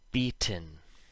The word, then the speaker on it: beaten: When the letter T appears before an N, and they are separated by a short I sound, so the vowel, not always an I, and N together rhyme with in, the T makes no sound when we speak fast.